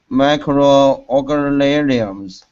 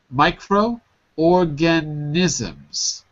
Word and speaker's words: microorganisms: city thriving world of micro organums almost microorganisms micro organisms the last syllable is nisms with an n nisms n so organisms